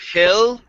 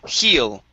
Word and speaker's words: he'll: with the word heal you need to make sure that you pronounce an e sound instead of hill it's heal okay i don't think